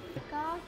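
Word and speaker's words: Warka: Varka.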